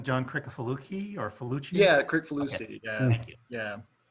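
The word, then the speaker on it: Kricfalusi: Yeah, Crickfalucci. Okay. Yeah, Thank you. Yeah. But I never did learn to pronounce that.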